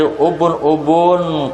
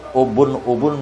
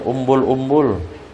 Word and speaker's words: ubun-ubun: Kemudian menyapu dari ubun-ubun ke bawah muka tuh ubun-ubun bacaannya. Jangan bacanya umbul-umbul. Ubun-ubun.